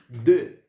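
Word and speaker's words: deux: esse é o número um vamos lá 2 de de de de vai fazer um leve biquinho daqui e vai pronunciar como se fosse a questão lá do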